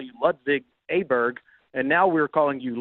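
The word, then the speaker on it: Åberg: a soccer player did oberg his name is I guess in Sweden really pronounced Oar and there's some weird sound you make at the end of the name and I was walking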